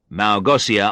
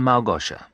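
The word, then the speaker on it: Małgosia: Armstrong in the first policeman asked ignoring my question Malgosia Armstrong he said pronouncing it with an S sound instead of the sure sound it should have no no she isn't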